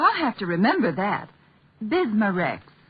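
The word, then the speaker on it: Bisma-Rex: have to remember that bismar Rex is that how you say it that's right ma'am b i s m a hypen re x bismar x ask for bismar X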